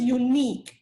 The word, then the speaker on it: unique: your screen you're unique the pronunciation is unique okay emphasis on the eye unique good phrase danielle